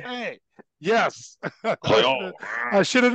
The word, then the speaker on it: Boutte: The New England Patriots wide receiver, Kayshawn, how do you pronounce this? Butt was arrested last week over allegations of illegal sports betting while he played at LSU. Louisiana State Police said the charges against, it's Boutte. Yes, it's Boutte.